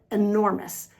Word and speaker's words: enormous: The next five words have emphasis on the second syllable. The stress is on the second syllable like in the word enormous.